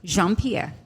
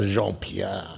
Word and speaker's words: Jean Pierre: are not allowed to say yours correct sir Jean Pierre very good she can pronounce it very well Jean Pierre Jean Pierre so so yes my name is